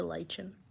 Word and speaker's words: lichen: Oh, yes, I love pronouncing lichen as lichen, not lichen or lichen. It's lichen.